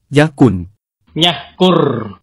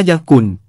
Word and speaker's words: ญัฮกุร: แต่ถ้าเขียนภาษาไทย จะขอเขียนตามแบบเดิม ที่เคยเขียนมาแล้ว คำว่า ญัฮกุร นำมาให้ดูทั้งอักษรปัลลวะ อักษรมอญโบราณ อักษรขอมโบราณ อักษรมอญปัจจุบัน นำมาให้ดูจะได้เปรียบเทียบกัน ภาพนี้คืออักษรมอญโบราณ คงหาอ่านได้ยากแล้วครับ ถ้าเขียนคำมอญ ผมจะเขียนทั้งอักษรมอญโบราณ และอักษรมอญปัจจุบันด้วย ในภาษา ญัฮกุร แต่เดิมอาจจะออกเสียงสระ อุ เป็นเสียงสั้น แต่ถ้ายึดตามคำมอญปัจจุบันจะเป็น สระ อู (เสียงยาว) คือออกเสียงให้ยาวอีกนิดหนึ่ง จะแปลว่า คนที่อยู่บนที่สูง คำว่า ญัฮ